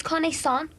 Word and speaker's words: connaissance: And anyway, you pronounced it wrong. It's connaissance.